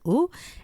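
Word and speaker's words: ו: And so in Hebrew, the word and is the word vav. It's represented by the word vav. Sometimes we pronounce it as va and sometimes we pronounce it as u.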